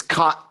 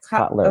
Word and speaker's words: Kotler: It's Kotler, Cotton. Mr. Kotler, Kotler. It's nice to meet you, Judge. Yes, ma'am. Could you spell that? No, okay. Lost him. I can't tell if he was saying collar or Kotler, okay. yeah. Cotlar. Kotler. That makes way more sense.